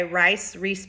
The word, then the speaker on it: Rhys: It is by Rhys. Bowen is spelled R-H-Y-S, so I hope I'm not pronouncing her name wrong.